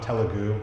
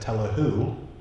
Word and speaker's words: Telugu: And so I met my wife, and she said I'm Telugu, and I probably said Telugu.